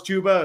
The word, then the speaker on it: Chuba: It's like saying you think Chuba Hubbard is pronounced Chubba Hubbard, and Oh, then when yeah. I found out it was Chuba, it was the saddest day of my life.